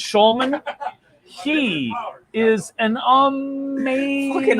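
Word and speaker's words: Hjulmand: I don't know with the HJ, but I think it's Schulman.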